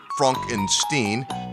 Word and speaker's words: Frankenstein: Frederick Frankenstein or as he pronounces it Franck enstein a lecturing physician at